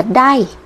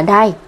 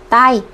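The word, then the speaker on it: 台: khi đứng một mình nó sẽ được đọc là đai ok chưa ạ Ngoài ra thì khi nó ghép với các chữ hiragana hoặc canj còn lại nó có thể đọc là tai các bạn lưu ý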